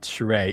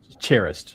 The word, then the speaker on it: Charest: Is his name actually it's not really uh it's Isn't it like not Shereé, it's actually Cherish, right? That's But people just mispronounced it now.